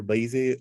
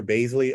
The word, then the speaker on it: Baizley: much uh this has been uh john dyer blasey baisley oh i'm so sorry trust me i mispronounce uh names all the time um john dyer basley of baroness thank you so much i do